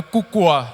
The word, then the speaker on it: Koukoua: No domingo passado, o pastor Júlio nem quis arriscar para pronunciar o sobrenome, né? Mas é Cucoa.